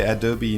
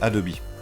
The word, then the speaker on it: Adobe: how do you say Adobe in French it's good question some people say adob most yeah most of the time they say adob and sometimes Adobe it depends okay so if you want